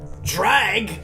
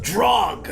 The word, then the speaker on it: Jreg: Drag? It's pronounced drog.